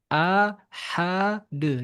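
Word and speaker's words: أحد: Jangan menambah tanda tasdid di dalam Al-Qur'an. Dia harus dibaca sesuai. Kalau sukun ya sukun saja jangan ditasydid.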